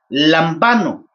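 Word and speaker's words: λαμβάνω: Lambano, como se debería de pronunciar, lambano.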